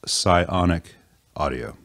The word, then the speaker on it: Psionic Audio: because of that and it's just a bad pun on sonic so sonic audio psionic audio it's hard to name